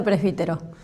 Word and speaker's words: Presbítero: Bueno, primer detalle es de Presbítero. Y está bueno porque es un apellido complicado, Sí. con acento en la I, entonces bueno, me marcó desde chiquita por razones obvias.